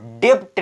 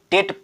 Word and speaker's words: debt: For example DEBT, इसको डेप्ट नहीं पढ़ेंगे, इसको डेप्ट नहीं पढ़ेंगे, इसको केवल डेट पढ़ेंगे, केवल डेट पढ़ेंगे।